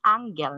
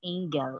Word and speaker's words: angle: degree okay so parenthesis it is pronounced as angel not angle okay it is not an angel okay it is an angle okay angle she said